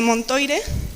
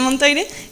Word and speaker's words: Montoire: También debido a la entrevista de Montoire, que no se pronuncia así, pero la entrevista de Montoire, en la que Pétain y Hitler establecen un régimen colaboracionista que se llama la Francia de Vichy.